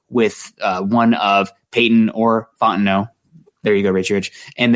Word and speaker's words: Fontenot: Fontenot. Thank you, Richie Rich, keeping us on the pronunciation.